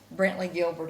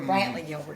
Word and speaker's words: Brantley Gilbert: weeks there opening up for Brentley Gilbert at that, or Brantley Gilbert. I always say the name wrong.